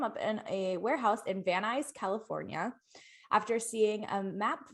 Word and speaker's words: Van Nuys: Brought together a small team of college students, artists, engineers, and set them up in a warehouse in Van Nuys, California.